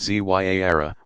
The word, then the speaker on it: Ziara: Ziara, pronounced Zyara, meaning visitation, is a form of minor pilgrimage still popular all over the world.